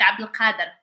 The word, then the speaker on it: Abdul Qadir: Because in Arabic we do like, of course in Morocco we have that name, so it's like Abdul Qadir, Abdul.